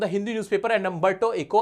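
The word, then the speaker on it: Umberto Eco: Paragraph from an interview between Mukund and a representative from the Hindi newspaper and अंबटो इको a professor. एक professor है अंबटो इको इनका नाम है। अगर मैं सही प्रोनाउंस कर रहा हूं वो इनका नाम ये बता पाएंगे क्या है?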